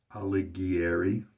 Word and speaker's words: Alighieri: new scent to me alighieri is how i'm going to pronounce it is my best guess it is sterling's seasonal